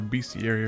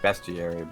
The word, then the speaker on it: bestiary: Now we gotta enter bestiary or whatever. Where the hell is it? It's actually pronounced bestiary, but...